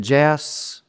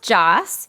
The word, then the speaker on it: Jass: Is it Jass? It's actually pronounced Joss, but I would say about Joss. 95%. Yes, it's German, so Joss.